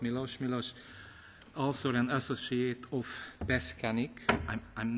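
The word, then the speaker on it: Peščanik: also an associate of Beskanik. I'm not sure this is the good pronunciation. Beskanik. Beskanik, thank you.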